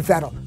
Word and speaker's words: Vettel: meet Red Bull racer Vettel. By the way, it's pronounced in German as an F, not as a V.